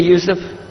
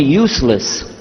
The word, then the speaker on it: Yusuf: but some are gone my name is Yousef he say Yousef Misha Houston very good I wish you teach my wife she keeps mispronouncing it she calls me useless hamdulillah now how many